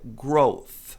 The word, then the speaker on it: growth: Olha lá, essa palavra aqui termina com th, mas muita gente pronuncia growth. Growth porque tem dificuldades com esse th. A pronúncia correta é growth.